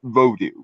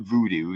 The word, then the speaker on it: Vodou: wanted to be technical he would be brother vodou because that's how you actually you're actually supposed to pronounce it it's not voodoo that was that was kind of an americanization